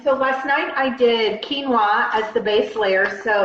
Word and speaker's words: quinoa: way to do it it's quinoa right oh and by the way you can laugh at me I used to pronounce it Qin OA can you see why and people didn't tell me for like a year I'm doing teachings and trainings and I'm pronouncing it Quin Ola and nobody tells me